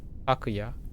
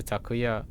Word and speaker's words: Takuya: So, this is what I mean by atamadaka or proper nouns when they're three syllables longer. Takuya as opposed to takuya, which is how I'm encoding it first and then adjusting most of the time.